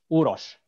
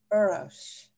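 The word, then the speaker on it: Uroš: And yeah, my name is Uros. Uros.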